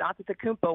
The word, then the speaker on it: Antetokounmpo: and then you can you can pronounce it uh the way i just did after takumpo where there's more t's and p's uh that's more of the greek version and and that's actually